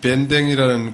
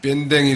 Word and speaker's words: 밴댕이: 여러분 혹시 밴댕이라는 고기를 아십니까? 밴댕이. 고기 이름이 밴댕이.